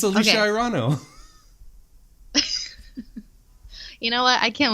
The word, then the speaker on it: Irino: It's technically pronounced Irino, but that's what I said the first time. I just didn't say it all Italian. It's Italian. I didn't. You said Irano.